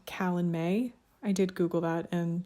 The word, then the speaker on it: Calanmai: This one is called Callan May. I did Google that, and that's how Google told me to pronounce it.